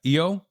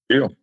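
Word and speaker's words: EoO: It's spelled E O. How do you say that? Eio. Eio.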